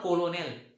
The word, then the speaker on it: Colonel: It is not colonel. Okay. So the spelling is Colonel, but its pronunciation is colonel.